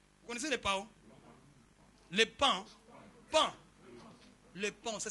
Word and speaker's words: paon: Les pans. Pan. Les pans, ça s'écrit comment? P-A-N. Ah, ok. Paon, mais ça se dit pan.